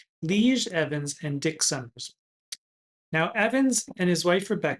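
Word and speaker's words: Lije Evans: It's spelled L I J E, which apparently is a Dutch name, Lee Evans and Dick Summers.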